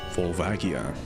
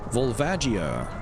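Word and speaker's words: Volvagia: My favorite subterranean lava noodle vulvagia. According to the Japanese pronunciation, this is actually called vulvajia, but I elect to purposefully mis mispronounce it for noticeable reasons.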